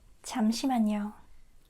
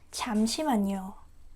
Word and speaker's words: 잠시만요: But to him, this part sounding like CH. So, like 잠시만요. 잠시만요. Like I could not get how the two totally different sounds could sound exactly the same to him. Listen carefully. 잠시만요. 잠시만요. Again. 잠시만요. 잠시만요. It's just different.